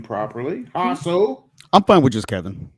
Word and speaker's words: Jasso: Did I pronounce that right, Kevin? At No, least no. Jasso? Is it really J? You could just say Kevin, but it's Hasso.